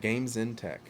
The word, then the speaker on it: Game Zen Tech: Game Zen Tech.